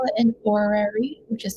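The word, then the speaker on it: horary: So when I look at the timing like this guy, sometimes we call it an orary, which is spelled h o r a r y.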